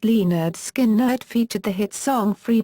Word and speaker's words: Lynyrd Skynyrd: the self-titled album with the subtitle pronounced Lee nerd skin nerd featured the hit song